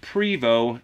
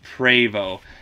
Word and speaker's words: Prevost: that in the future you don't pronounce it Prevot it's pravo hope everybody's having a